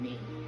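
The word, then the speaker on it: Mei: So that's why it's Shauna May. And it's spelled M-E-I.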